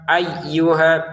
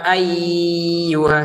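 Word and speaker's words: أيها: Ya ayyuhanasuakum ya lima harakat ayyuha tekan ynya dan tidak usah dengung kalau didengungkan jadi salah ya ayyuha salah walaupun kita tidak niat mendengungkan, tapi kalau ditahan y-nya yang bertasydid ini ya salah Ya ayyuha ini salah.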